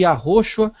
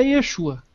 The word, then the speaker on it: Yeshua: original na língua em que Jesus falava, é Yeshua e ponto final. Yeshua. Não tem nada de Yahoshua, Yahoshua, é Yeshua.